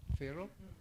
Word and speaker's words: Pharaoh: Mga sir, iso nga bilibak ken ni Farah Paano natin ibigkasin ito? Tulungan niyo ako. Farawa. Pharaoh? Pharaoh. Pharaoh?